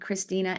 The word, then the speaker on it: Christina: In German, so if you pronounce these names in German, it would read Christina and Katharina. The E's would make the A sound.